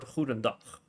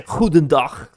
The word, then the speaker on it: goedendag: Because if you have like the word goedendag, for example, goedendag, you hear the extreme G, or vliegtuig.